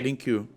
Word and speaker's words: LingQ: G, Sí, G, link you.